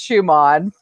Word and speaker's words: Schumann: I have a German heritage, and so like I know that man's name is pronounced Schumann from the German.